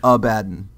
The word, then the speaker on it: Abaddon: and you're going to listen to the way that the word is pronounced and it is abaddon okay uh bob what